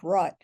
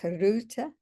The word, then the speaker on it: Rutte: Netherlands, Mark Rutte, and I do not speak Dutch, but I think that's in general close to the pronunciation. It's 2 syllables. We would say Mark Rutte probably, but Mark Rutte, okay.